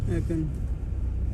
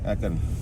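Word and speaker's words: Aachen: एकन का क्या वो था, प्रोनाउंसिएशन क्या था? एकन। एकन।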